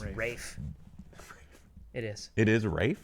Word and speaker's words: Ralph: Rafe. It is. it is Rafe. Yeah. It's Rafe Oh. Fiennes. He makes us call him that. Okay, It's spelt Ralph.